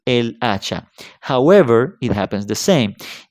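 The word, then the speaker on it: hacha: same with the word acha ax acha starts with um a consonant the H however remember that in Spanish H is a letter which is mute completely mute so when I when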